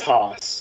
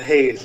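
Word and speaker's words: Haase: Oh, it's Haas. Okay, Eric Haas. So it's not Hayes, which is the way I was pronouncing it.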